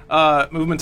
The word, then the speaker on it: MVMT: So just so you're aware, the brand is MVMT, even though it's pronounced movement.